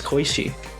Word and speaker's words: Koishi: How else do you pronounce Koishi?